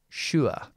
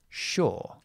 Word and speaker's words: sure: Uh most people, what we do is we pronounce this word with the long o, which would be shore. Shore. And if you want the American pronunciation, sure.